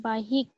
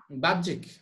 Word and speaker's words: বাহ্যিক: যে মিশ্রণের উপাদান পদার্থগুলি বাহিক বাহ্যিক উচ্চারণ হবে বাহ্যিক আচ্ছা বলেন হুম বাহ্যিকভাবে